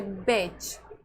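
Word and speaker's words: batch: जैसे बैच बैच में beds beds नहीं पढ़ना इसको। यहां पे टी साइलेंट रखना है।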